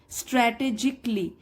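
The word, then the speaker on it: strategically: स्ट्रेटेजिकली, अब देखिए CALLY जब आता है किसी भी वर्ड के लास्ट में तो हम ए साइलेंट मानते हैं, उसको नहीं प्रोनाउंस करते, स्ट्रेटेजिकली।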